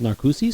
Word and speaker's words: Narcoossee's: They have a seafood restaurant there called Narcoossee's. Narcoossee's, yeah. Yeah. And I have to force myself to pronounce it that way because that's the correct pronunciation.